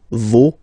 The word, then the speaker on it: vos: pronounce the final S, vos, you don't pronounce it, leur.